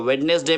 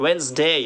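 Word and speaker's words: Wednesday: अब हम पढ़ते थे इसको वेडनस गई तो वेडनेसडे में डीजे साइलेंट है कंपनी है वन डे वन डे वन day cricket वेनसडे remembered आगे चलते हैं देखते हैं सैंडविच तो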